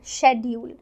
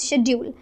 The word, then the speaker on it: schedule: in the whole word so if we talk about the british accent they will ignore ch and pronounce it as schedule but americans will not ignore it they will pronounce the whole word as schedule so both of them are correct just the pronunciation and the general